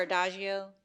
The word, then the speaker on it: adagio: A d a gio. Am I ad? Or adagio? Yeah. Which one is it? The Italian way is adagio.